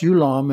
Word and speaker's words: Yulam: The odic causal odic astral sheath, pronounced Yulam and often written simply as long.